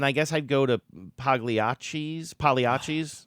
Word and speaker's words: Pagliacci: They You do live in a deliver Pagliacci zone. Exactly. And I'm mad that I pronounced the G in Pagliacci the first time I said it.